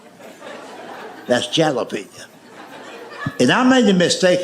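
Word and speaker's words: jalapeño: That's jalapenñ." And I made the mistake of trying to explain that to him. I said, "I know it's a J, but it's pronounced with a H.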